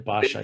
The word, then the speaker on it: Pasha: When did the Ottoman Pasha, is that the correct way to pronounce? The Pasha, yeah.